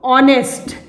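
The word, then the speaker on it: honest: ऑनेस्ट, एच इज the silent, तो ओ की sound आई यहाँ पे।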